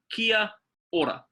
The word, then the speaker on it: kia ora: word killer okay so ka-ki a new word Oh RA Kia Ora now Kia Ora or as we sort of rolls off the tongue is at kia ora kia ora means hello